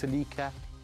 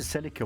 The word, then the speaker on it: Celica: how do you pronounce Celica as you like some people say it with a strong pronunciation of the S some people say it